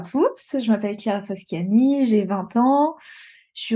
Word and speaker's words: Chiara Foschiani: toi justement qui es-tu Kiara et est-ce que je prononce bien s'il te plaît je ne refuserai d'écorcher les prénoms c'est parfait c'est parfait alors bah bonjour à tous je m'appelle Kia fasciani j'ai 20 ans je